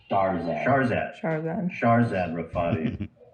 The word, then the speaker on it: Shahrzad Rafati: Shahrzad Rafati.